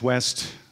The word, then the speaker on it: Weszt: So yes, my name is Weszt. It is pronounced West.